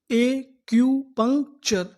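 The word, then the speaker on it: acupuncture: इसे पढ़ेंगे ए सी यू ए क्यू। पी यू एन सी पंख। टी यू आर ई चर। तो पूरी meaning एक्यूपंक्चर एक्यूपंक्चर एक्यूपंक्चर एक्यूपंक्चर का मतलब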